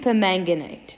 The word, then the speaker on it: permanganate: the ask determine the percentage composition of potassium permanganate potassium permanganate that's the name say it again potassium per manganate it is a purple Crystal potassium per manga Knight exactly like you um pronounce it you spell